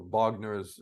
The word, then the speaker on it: Wagner: when we talk about Wagner or Wagner, as you pronounce it in Russian, is there anything to